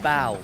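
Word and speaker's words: Bao: Clash with Bow.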